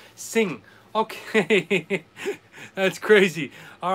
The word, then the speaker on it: Singha: green bottle gotcha again it's apparently pronounced sing okay that's crazy all right you know because i have friends in laos and i was calling it sinha and they're like what's